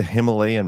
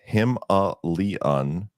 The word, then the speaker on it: Himalayan: JJ Shradi says, concerning the Himalayan mountain range, proper pronunciation is Himalayan.